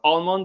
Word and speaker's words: almond: to pronounce the word almond especially i tend to stress the l and the american native american speakers don't and so we're going